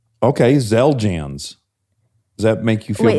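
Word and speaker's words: Xeljanz: And for some reason the X the X is z. It's not Are you sure it's not zel? Okay. Zeljans.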